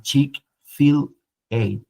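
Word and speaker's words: Chick-fil-A: Chick fill a sí como ch de Chicken fill de filete y ellos le pusieron una ación la a sí como cuando usted lo lo lo lee lo pronuncia es como como chic filete sí chic Fil y es interesante la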